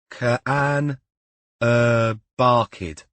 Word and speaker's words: Carn y Barcud: She'd made Cam look up the proper pronunciation of the cottage they'd booked. Carn y Barcud. Carn y Barcud was what Cam had finally worked it out as.